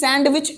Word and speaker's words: sandwich: Sandwich, ये D silent होता है. जैसे हैंडसम लिखा होता है उसे पढ़ते क्या हम लोग? हैंडसम. तो यहाँ पे डी साइलेंट कर लेंगे, कोई सैंडविच मत बोलना प्लीज.